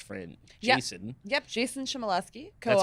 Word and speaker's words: Shimoleski: Yep, Jason Shimoleski, co-author. That's how you pronounce his last name. Okay. Yeah, Shimoleski.